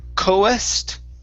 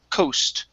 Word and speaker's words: coast: the word coast so so instead of saying cohest okay i'm pronouncing the a this is only an o sound so it's coast coast okay good one